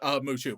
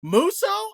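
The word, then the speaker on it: Musou: First, I don't think it's pronounced mushu, but that's how we pronounce it. I probably because the dragon from Mulan, honestly. That would be my guess. Let's see how it's actually pronounced.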